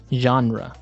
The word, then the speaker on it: genre: We say genre. Genre. Or genre. This kind of sounds French. Is it French? I think it comes from French. It's a GE word, so genre. It's a soft sound.